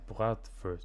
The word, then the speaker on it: Bratwurst: Yeah, bratwurst.